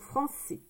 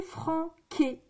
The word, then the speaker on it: français: Donc français. D'accord? Si je ne mets pas ici, ici la cédille, si je ne mets pas la cédille, ça fait franqué. C'est français. Franqué, français. Franqué, non. C'est français.